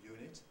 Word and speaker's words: unit: unit not an unit well because we go by the pronunciation well unit is spelled with a vowel letter the pronunciation involves a